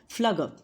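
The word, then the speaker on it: Pflüger: P is silent, so we call it as egg tube of Flugger.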